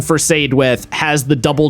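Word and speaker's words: Saedwydd: And I know the double D makes the TH for Welsh, so I stuck with that.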